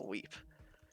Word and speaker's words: Weep: it Wep, but I thought it was Wep. The only reason, the only time, Who on the planet? dude, I don't know. I wish I knew. The only moment I like realized I was saying it wrong was when Willis himself told me, "Why did you call it Wep? It's a weep."